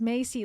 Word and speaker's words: Macy: Lillian Macy says, by the way, Macy is pronounced Macy like Macy's.